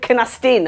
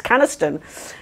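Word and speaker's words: Canesten: And I did go, you did pronounce Caniston wrong, actually. He said, Canastin. I was like, it's Caniston. So I picked him up on that.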